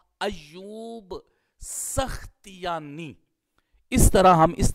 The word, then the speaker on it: ایوب سختیانی: رہے ہیں، اس میں سب کا اتفاق ہے کہ سین کے اوپر فتحہ ہوگا اور خا کے اوپر جزم ہوگی اور تا کے نیچے کسرہ ہوگا، یہی راجح ہے۔ تو اس کا پھر تلفظ کیا ہوگا؟ ایوب سختیانی۔ اس طرح ہم اس